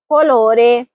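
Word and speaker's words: colore: यहां भी शी के बाद ओ है इसलिए का होगी। कोलोरे। फिर है कबो यानी क्यूब या मकब।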